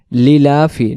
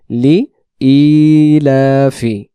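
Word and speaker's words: لإيلاف: তাহলে যে শব্দগুলো বারবার পড়বো সেগুলো হলো আমরা সূরাতুল কুরাইশ পড়ার ক্ষেত্রে অনেকে বলি লিলাফি। লিলাফি না উচ্চারণ হবে লি ইলাফি।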